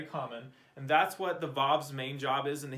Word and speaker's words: Vav: It makes a V noise like our English letter V. But that is the modern pronunciation. Some people who read ancient Hebrew pronounce it wow with a W noise, wow, because that's how we know that they pronounced it way back in the day when they wrote the Bible. But I learned Vav, so that's how I pronounce it.